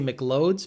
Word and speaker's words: McLeod: the rear the rear the reason I say Mik loads because Christian Papa actually says that's how it's spelled I don't care that it says McLeod it says McLeod's so from now on anytime you see a clutch McLeod its Mick loads so the McClouds clutch